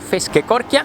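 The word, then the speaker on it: Feskekôrka: comencé a buscar los nombres y su correcta pronunciación en google así que aquí va este lugar se llama fish que coria y es un mercado de pescado y de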